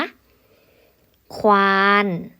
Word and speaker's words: ควาน: หนา เห็น มย คะ ควาน ควาน เรา ออก เสียง ทั้ง ค ควาย และ ว แหวน กว่า กว่า เรา ออก